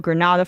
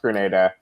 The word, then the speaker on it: Grenada: ready to invade Grenada, pronounced Grenada like Grenada and not Grenada.